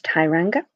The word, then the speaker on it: Tsuranga: the New Zealand which is very very often mispronounced it's Thai Ranga that's the pronunciation that I got from the online dictionary yay ok so in short this episode took dr.